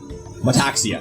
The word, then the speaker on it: Metaxia: It's pronounced how it's spelled. Metaxia.